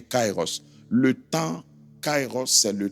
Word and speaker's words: kairos: Dans certaines manières de prononcer ou décrire, on met i tr i. Mais retenez cairos.